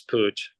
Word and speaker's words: Puig: of Barcelona right so even in Spain they pronounce it bad sometimes so I'm I'm used it hopefully I'm GNA let the the the world of goth know that it's Pooch um Jerry I got